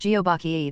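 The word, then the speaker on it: 거북: plus turtle or aach turtle in Korean is pronounced geobach therefore the bach both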